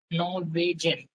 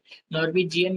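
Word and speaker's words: Norwegian: तो इसका प्रोनाउंसिएशन भी मैंने यहाँ पे लिखा है, नॉर्वेजन, ठीक है, नॉर्वेजन। नॉर्वेजियन नहीं कहना है।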